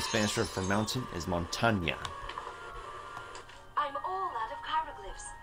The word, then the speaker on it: montaña: I hope I pronounced that right. Excellent. Just so you know, the Spanish word for mountain is montaña.